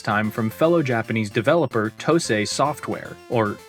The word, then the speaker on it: Tosei: from fellow Japanese developer Tosei Software, or at least I think it's pronounced Tosei, seeing as it's a Japanese company, and it's surely not Toes Software, right?